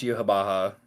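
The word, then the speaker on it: Yhwach: to the bleach Wiki yuab Baha it's pronounced yuab Baha fa no um yeah no uh yeah I've been harassing you about it for like a week that it's pronounced that way listen I'm not Kubo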